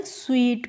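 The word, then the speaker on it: sweat: तो देखिए थोड़ा सा डिफरेंस है दोनों के प्रोनाउंसिएशन में। इसको हम स्वीट पढ़ते हैं। इसको पढ़ते हैं स्वेट।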